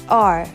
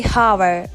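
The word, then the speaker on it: hour: next word is extremely commonly used word it's R some say over over it's okay but Edge is silent we don't say hover or hard we say or I would say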